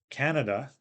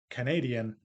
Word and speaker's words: Canadian: morphology so for example in English uh Canada the noun has stress on the first syllable but when we add the suffix to make it into an adjective Canadian the stress moves to the second syllable so you can look